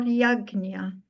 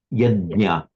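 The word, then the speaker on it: यज्ञ: The correct pronunciation in Sanskrit is yeda. Yednya. Ya. Yes. Um, in modern Hindi the sound is pronounced as a G.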